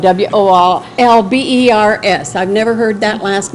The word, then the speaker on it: Wolbers: Wolbers, and that's spelled W-O-L-B-E-R-S. I've never heard that last name before, so it's not Walters, it's just Wolbers.